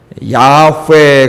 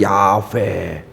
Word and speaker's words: 야훼: 원래는 여호와는 아니라 그랬죠. 자음만 읽으면 야훼 그렇게 읽어진다 그랬어요. 야훼.